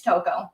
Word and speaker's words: Tocco: I cannot pronounce the last It's Tocco. Tocco.